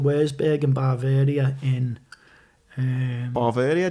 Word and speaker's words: Bavaria: Bavaria? Do you say it like that? Bavaria. I say Bavaria.